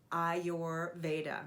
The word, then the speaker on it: Ayurveda: your veda so first let me teach you how to say the word i your veda so i your veda